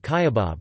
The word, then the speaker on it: kyabab: Seasoned oblong meatballs cooked on skewers, known in other regions as lul kebab or kuft, are called kayabab, with the emphasis on the first syllable.